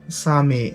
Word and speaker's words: Sami: Arap Saniyeler ile karıştırılması nsame diye yazılıyor Sami diye okunuyor ama Allah onlarla Japonların